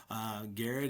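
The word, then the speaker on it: Garrard: Garrett is spelled g a r r a r d and our our website is garrett.kyschools.us.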